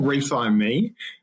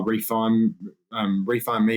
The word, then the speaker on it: Refi Me: was, everyone's like, oh, refine me, refine me. And then everyone was pronouncing it wrong and no one got it. And they're like, what does that mean? And I'm like, it's like refinance me.